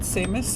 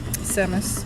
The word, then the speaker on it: Samus: eat help me remember Samus Aran or is it seus help me or sham how should I be pronouncing that oh oh her from Metroid Samus okay a hero of few